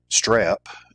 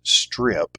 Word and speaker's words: strep: Um, and then strep. Uh, people mispronounce that, uh, as strip as though it's an I, not an E.